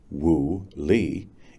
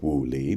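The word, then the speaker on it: 物理: lee produces a different woolee, each with the same English spelling, and each pronounced in English woo. The first wooie means patterns of organic energy.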